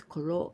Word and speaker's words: 黒: my friend well I want you to use Kuro da this is the surname I want to do right in kanji Kuro this is Kuro the color black Kuro black da this is